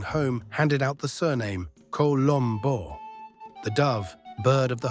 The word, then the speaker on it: Colombo: Americans say Colombo, Italians say Colombo, a clean O. How about you? Colombo means the dove, and yes, that one.